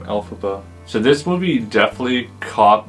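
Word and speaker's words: Elphaba: alabo was created by taking the fanatic pronunciation of the original Wizard of Alice author all Frank bomb's initials lfb which became alphaba so this movie definitely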